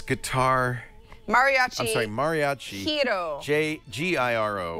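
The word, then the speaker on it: Giro: Hiro. G-I-R-O. Right. Hiro. Hiro. Hiro. Hiro. Like. Who would have thought? Because, see, the G is pronounced like an H in the. It's pronounced Hiro.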